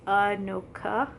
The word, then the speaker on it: Anoka: with this so i'll put it up it's anoka by shane hawk um i actually messaged him on twitter asking how to pronounce it and he told me yes it's anoka and it's a small city in minnesota originally